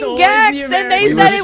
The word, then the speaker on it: Gex: Jex.